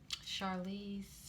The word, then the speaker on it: Charlize: watched monster with um charlize charlie charlize theron that's how you say her name and she plays um